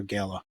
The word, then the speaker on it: Gala: Is it Gayla or Gala? I I say I say both.